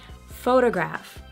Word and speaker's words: photograph: We stress the first syllable. Do you hear it? Photograph, photograph. That's a little bit too much, right? But I'm just trying to show you. Photograph, photograph, not photograph.